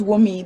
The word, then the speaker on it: Wunmi: Yes, hello, it's Wumi. The N is silent. It's a vowel in my country.